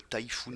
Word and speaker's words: Taifun: Le Messerschmitt Bf 108 s'appelle le Typhoon aussi. Écrit donc T-A-I-F-U-N pour que ça se prononce comme le mot Typhoon en anglais.